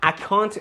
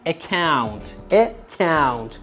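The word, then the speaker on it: account: میشه چکینگ اکانت بچه‌ها اکانت نگی اکانت فارسی شدههه یعنی ما یه کلمه انگلیسی تو فارسی میخوایم استفاده کنیم انقدر همینجور عادی میخوایم استفاده کنیم تلفظش عادی تر فارسی تر میکنیم اکانت اشتباهه بگید اکونت درسته چکینگ اکونت میشه حساب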